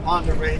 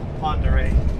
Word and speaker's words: Ponderay: If you Google Ponderay, you're not going to be able to get the spelling right. It's not phonetical. It's basically, it's a French name that has been butchered over the years.